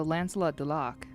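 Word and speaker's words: Lancelot du Lac: It was uh play on Lancelot Dulak, which was French. So, Dat was the correct pronounce pronunciation. Perfect. So, Lancelot Dulak.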